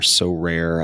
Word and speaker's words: Sorare: might be based in France, called Sorare or So Rare. I don't know how it's pronounced.